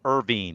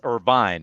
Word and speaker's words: Irvine: california at irvine.edu and i pronounced it irvine it's irvine i beg your pardon